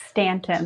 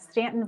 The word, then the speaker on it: Staunton: you started with ston right yeah did I pronounce that well Stanton that was pretty good that was pretty good thank you very much uh yeah we are in h Stanton Virginia we're nestled in the shannona Valley of